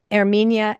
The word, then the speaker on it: Herminia: Hi, my name is Herminia, pronounced Air as in Air Jordan, me, and I am highly skilled at teaching and simplifying the complicated. Great. Erminia.